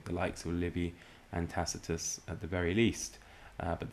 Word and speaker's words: Tacitus: And moving on, we have Tacitus, or should it be Tacitus, if you follow the pronunciation of the hard C there.